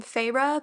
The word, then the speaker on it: Feyre: issue and number three I know that you pronounce her name pharah because I've seen the